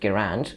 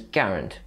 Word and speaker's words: Garand: name is frequently pronounced gerand when accident on the second a the preferred pronunciation is garand with the accent on the first day that's how the